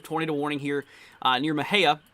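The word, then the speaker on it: Mexia: warning here uh near mahea or this does include moja here i was informed that that's how you pronounce that just north here of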